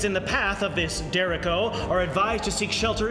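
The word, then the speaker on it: derecho: this storm called a dereko is on its way fast excuse me dude i'm sorry but i think that's pronounced dereko oh uh this dereko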